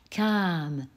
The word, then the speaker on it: kam: Prétérit, par contre, comment est-il prononcé par les Allemands? Kam. Le A est long. Pourquoi? Car derrière, il n'y a qu'un seul M.